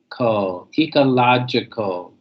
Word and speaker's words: ecological: me please yeah and remember that you're the g i-- GE and Gy is know Emily the J sound not always but mostly the Reedy I'm sorry the J sound so ecological ecological ecological ecological alright next